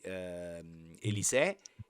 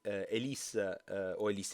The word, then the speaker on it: Elis: Succede che di fatto Lady, Elisse, adesso non so neanche dove stanno la forse Elis perché l'accento sta sulla E, voglio essere preciso, ma non importa.